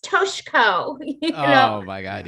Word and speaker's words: Toshiko: opponents to be white saviors and say, it's pronounced Toshiko.